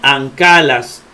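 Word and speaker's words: ἀγκάλας: Dice que cuando la gama se combina con una capa, la gama se pronuncia como N. Correcto, aquí está. Entonces la gama como N.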